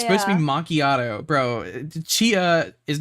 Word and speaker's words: macchiato: It's not spelled the way it's pronounced. It's like it's supposed to be macchiato.